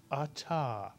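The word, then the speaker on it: אתה: look at this pronoun it has two vowels two syllables it's a very simple hebrew word to read the first syllable is ah the second syllable is ta you put the word together you get atta mitsuyan and now if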